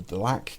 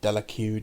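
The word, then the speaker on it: Delaque: from a necrom under delac kit um or delq depending how you want to pronounce that and a few other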